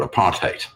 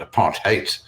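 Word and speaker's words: apartheid: complete separation was called a parate that's the pronunciation of it a part hate the word hate of course sounds like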